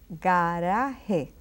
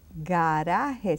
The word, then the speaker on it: garaje: Now you see the G and A. A is supposed to be a strong letter, so we say garaje, garaje.